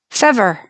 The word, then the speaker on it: fever: Fever. F E V E R should rhyme with never, right?